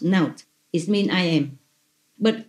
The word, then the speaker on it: Not: And over here I have written like Naut, N-O-T, pronounced Naut.